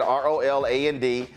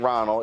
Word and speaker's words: Roland: All right, so if y'all go to her institute, you type in ROLAND. Don't misspell it. It ain't Ronald. It's ROLAND.